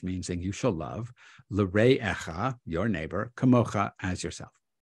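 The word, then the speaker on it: לרעך: Instead of l're'echa, your neighbor, he says, say l'ra'echa, your evil, kamocha, as yourself.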